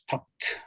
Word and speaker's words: talked: The pronunciation here is talked, right? Talked, talked, the T. Because when we, the ending when is with D, usually we pronounce like T, talked, talked, right? We don't say talked, talked, stopped, right? The pronunciation ends in T.